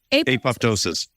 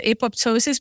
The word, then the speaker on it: apoptosis: to this you talked about um can you pronounce it again is it Apple ptosis apoptosis apoptosis apoptosis or a program cell death is when